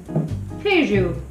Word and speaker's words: queijo: I like it and now I know how to say the word cheese in Portuguese hae-joo was not expecting that